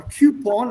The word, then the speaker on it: coupon: voucher or a coupon a coupon as the americans like to pronounce it c-o-u-p-o-n and these are um